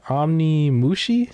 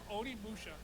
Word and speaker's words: Onimusha: How you pronounce this again? Onimushi? Did I say that right? Onimusha.